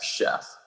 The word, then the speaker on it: Schoepf: in peter f as in frank and it's pronounced just like chdf chef all right he's the chef of great golf